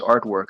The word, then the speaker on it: RTVRK: First of all, it's written RTVRK, but it's pronounced artwork.